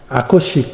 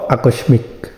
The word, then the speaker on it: আকস্মিক: আকস্মিক, এটা হবে আকস্মিক, তার মানে দন্তাস্বর নিচে ম আছে, তার মানে দন্তাস্বরটা দুইবার উচ্চারিত হবে, সেজন্য এটা হবে আকস্মিক, নট আকস্মিক।